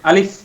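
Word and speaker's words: ألف: হচ্ছে আলিফ আরেক হচ্ছে হামজা সময় বলি সময় আলিফ আলিফ হামজা হামজাহ হামজাহ এই দুইটা এই দুইটা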